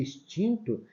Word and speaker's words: extinto: de z tá vendo espeli e extinto tem um som real do X tá então Essa não é